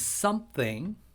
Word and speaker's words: something: Maybe happiness is something, th 조심하시고요. sing을 하면 안 됩니다. something이라고 하시면 안 돼요.